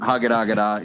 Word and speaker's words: Hagadagada: It's a 6-part web series called Hank Patterson's Camp Hagadagada, and Hagadagada is spelled like it sounds, and it sounds like it's spelled. Okay.